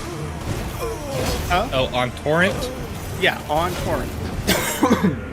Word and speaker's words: Torrent: I would kill the ability to use the great bow on tren. Huh? Oh, on torrent. Yeah, on torrent. You keep pronouncing it like turret.